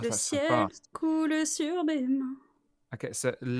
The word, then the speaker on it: coule: at the end, so coule. Coule. Yeah, normally the verb we don't say the e, but in the song it's like 2 syllables.